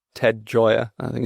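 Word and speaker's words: Gioia: Interestingly, a guy called Ted Joy, I think it's how his surname is pronounced, Gi O.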